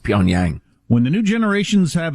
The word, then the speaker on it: Pyongyang: the dialects spoken in poontang uh i believe that's pronounced pyongyang when the new generations